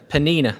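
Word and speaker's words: Peninnah: hannah the name of the other was penina penina that's how you say it when i was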